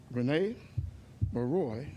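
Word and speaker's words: René Marois: Rene Maroy, that's how it's pronounced, he's a psychologist at Vanderbilt University, says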